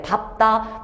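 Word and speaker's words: 밟다: 밝다라고 발음하니 밥다라고 발음하니, 이거 밝다라고 발음하는 친구들이 많은데 얘는 밥답니다. 밥다. 어색하지? 어쩔 수 없어. 외워야 돼. 밥다, 밥고, 밟는 이라고 비읍을 남겨줘야 되는 걸로 생각을 하셔요.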